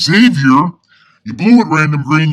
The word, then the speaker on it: Xavier: Well, I was all in for it until you called my middle name wrong. It's Xavier.